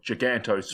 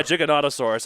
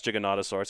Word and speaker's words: Giganotosaurus: your favorite dinosaur Giganotosaurus and I think I pronounce it Ro I used to call it gigantosaurus but apparently it's gigon yeah Giganotosaurus I think is how it is I've um